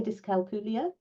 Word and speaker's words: dyscalculia: Is that how I pronounce it? Okay, dyscalculia.